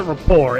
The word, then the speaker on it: Report: I was watching Daily Show and Coar and I'll still pronounce it rapport every time.